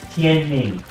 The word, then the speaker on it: Tianming: The writing, Tianming, is the sound, the pronunciation of those characters. So if you were to address him, Chinese or in English, his given name is Tianming.